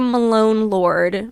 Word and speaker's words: Malone Lord: So, my name is Malone Lord. My joke is always it's post Malone and then Lord Jesus Christ.